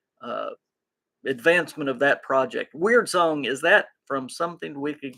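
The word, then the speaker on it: Wyrdsong: rpg that is called weird song now it's spelled w-y-r-d-s-o-n-g but he pronounces it weird song so uh it is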